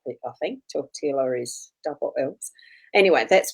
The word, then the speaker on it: tortilla: And sometimes the understanding in language, as far as, with what I had as a discussion, no, it's tortilla. You don't pronounce the double L. I think tortilla is double L's.